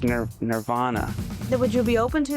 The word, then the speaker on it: Nirvana: Canadians or anything, but the way we pronounce the name of the band is Nirvana. It's not Nirvana. So, I don't know if it's lost in the translation or what, but it's ner Nirvana.